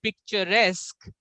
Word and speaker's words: picturesque: And we have seen that even a one word like picture, when we speak a different word like picturesque, then the pronunciation will change. Picture, picturesque. So in rest, we have to put more emphasis.